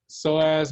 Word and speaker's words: psoas: so this is the psoas major the p is silent and the iliacus okay